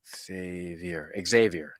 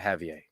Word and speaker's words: Xavier: Is it Javier cigars or Xavier? Xavier, not Javier. Well, Javier is spelled with a J.